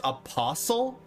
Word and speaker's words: apostle: What? Like whistle or listen? Hustle, jostle, apostle, bristle, thistle, or wrestle?